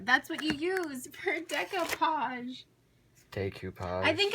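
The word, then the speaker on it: découpage: For decopage. Decopage. What's decopage? You take a napkin. Isn't it pronounced decoupage? Okay, you could get technical and call it decoupage, but I call it decopage.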